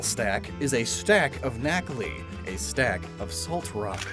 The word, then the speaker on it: Nacli: the periodic table is NaCl. Knackle. The I is then added to make it sound like a name, and is diminutive.